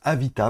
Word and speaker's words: Avatr: Oui, on prononce Avita maintenant, apparemment.